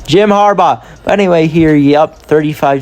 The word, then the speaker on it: Jim Harbaugh: Roger Goodell handed off to Jim Barba. That's not how you say his name. Jim Harbaugh.